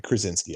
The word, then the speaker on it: Krasinski: quiet place part 2 John what is it Krasinski the Krasinski I wanted to make sure I pronounce it correctly he's the one who basically